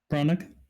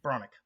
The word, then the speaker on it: Branagh: the summary, but Heinrich was played by Kenneth Branagh, or I'm sorry, what was the last name? It was Bronick? Branagh.